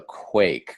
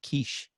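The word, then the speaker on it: Quaich: I'm glad you pronounced it properly and didn't say like quiche.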